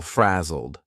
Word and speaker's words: frazzled: He looked a little frazzled. Frazzled here is a past simple ed verb, but the pronunciation is a very soft D, and you almost don't hear it. Frazzled, very soft frazzled.